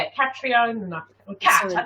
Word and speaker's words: Catriona: Catriona. Cat. I call you Cat. Cat. It's easiest. Cat. It's annoying. It's Catriona. Catriona.